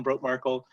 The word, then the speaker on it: Brotemarkle: much i i really appreciate that and the pronunciation was perfect that that's my name ben broke markle um and i'm really happy to be here